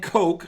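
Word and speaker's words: Koch: got balled out yeah heckler and coke i gotta say it right because people will get real upset and carry on out there heckler and coke under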